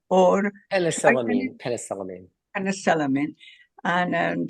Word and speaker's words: penicillamine: Khan, you mentioned that several times and it's hard for me to pronounce, but I'm going to try. Penicillium? Is that correct? Or Penicillamine.